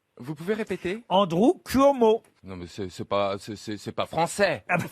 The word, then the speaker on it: Cuomo: Si ça s'écrit C-U-O-M-O, il prononce bien.